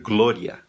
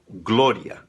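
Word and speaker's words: gloria: Não existe o som do O em espanhol. Se você escrever glória em português, você pede para um espanhol ler, ele vai dizer glória. glória, porque não tem o O. Esse O, ainda que tenha acento, não vai soar O aberto, soa fechado, glória, tá bom?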